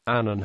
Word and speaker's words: Annan: Annan has said his surname rhymes with canon in English.